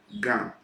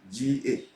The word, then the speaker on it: Ga: Ga, G-A, the Ga people in Ghana.